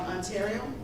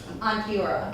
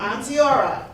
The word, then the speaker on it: Antioch: in the semi-finals against I'm probably going to pronounce it wrong, Ontario? Antioch. Antioch at Deer Valley High School tomorrow, March 11th at 5:00 p.m.